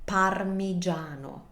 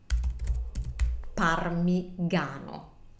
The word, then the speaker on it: parmigiano: his comment or in their comment we have parmigiano parmigiano we need to say that I and to spell it otherwise we would have parmigano parmigano you don't see it you don't pronounce